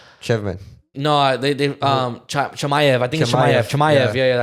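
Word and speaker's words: Chimaev: chman no they um chamay I think chamay yeah yeah I think people pronounce it but I know he probably pronounces different no no it's shamay they pronounce chamay but yeah June 22nd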